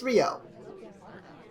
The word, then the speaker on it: Ryooo: three two one playing i said ryu again it's rio pretty close it's pretty close it's too many o's man too many o's take one o off and i'll bet that people will start pronouncing it correctly this is probably in